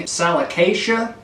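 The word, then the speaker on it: Salicaceae: Salicacia is how it's pronounced.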